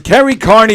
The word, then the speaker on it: Kerry Kearney: Ladies and gentlemen, Carrie Carney is here, ladies and gentlemen. First of all, let me thank you for pronouncing my name properly.